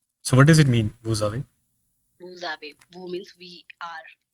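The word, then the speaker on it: vous avez: coming between two vels it means we will pronounce it as Z it is going to be a liazon it is going to be a liazon y okay so it becomes VAV so what does it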